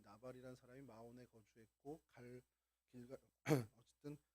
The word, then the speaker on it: 마온: 영어로도 마온으로 이렇게 발음을 합니다. 은신처라는 뜻을 갖고 있고요. 위치가 헤브론에 가깝죠. 뭐 대충 오늘 본문을 이제 보셨으면 이 나발이라는 사람이 마온에 거주했고 길가 어쨌든 그